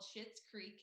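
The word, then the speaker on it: Schitt's Creek: highly suggest it's currently on netflix it's called shit's creek and i'm not cursing it's spelled s-c-h-i-t-t and that is the last name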